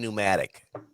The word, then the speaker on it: pneumatic: It's like saying pneumatic. The P is silent.